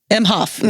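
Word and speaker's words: Emhoff: president yes Douglas emof emof how do you pronounce his last nameof mhof yes mhof Douglas mhof yeah I mean everybody's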